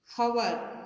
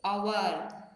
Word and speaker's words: hour: In number 9, the spelling has an H at start, but that H is silent. We don't say hour, we say hour.